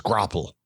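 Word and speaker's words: graupel: clle c c is Google said the American pronunciation is grapple okay sure and it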